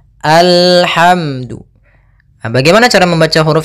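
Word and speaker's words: الحمد: Di sini bukan al, tapi dia alhamdu.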